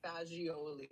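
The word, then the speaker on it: fagioli: I think it's pronounced fajioli. I'm assuming cuz if it was pronounced any other way.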